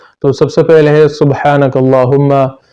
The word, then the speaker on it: سبحانک اللہم: سب سے پہلے ہے سبحانک اللہم۔ تو اس میں لوگ غلطی یہ کرتے ہیں کہ وہ سبحانہ پڑھتے ہیں، با پر فتحہ یعنی زبر پڑھتے ہیں، تو یہ غلط